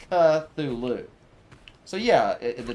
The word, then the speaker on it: Cthulhu: is not silent it's Cthulhu so yeah the t is Silent not the C uh Legion although I guess this I guess the T isn't silent e no actually nothing is silent in Cthulhu yeah you're right nothing